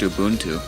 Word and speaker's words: Ubuntu: OS 10 Leopard, there was Ubuntu, Ubuntu. It's actually pronounced Ubuntu. Ubuntu. Hey, Oh, guys. I always thought it was Ubuntu.